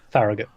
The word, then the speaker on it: Farragut: Farragut. Farragut, there you go, that's how you pronounce it.